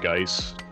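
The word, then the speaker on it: Guice: I'm pretty sure it's pronounced Geis.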